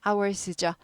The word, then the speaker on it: hour: hours죠. 복수이기 때문에 there is 아니고 there are로 대답하는 거고요. 24 hours H 묵음. how 아니고 hour.